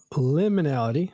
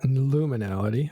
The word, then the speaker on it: liminality: So Sakenta went from final liminality, not luminality. I always say it wrong.